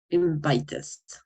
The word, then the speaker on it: invited: ¿Cómo voy a pronunciar invite? Invited.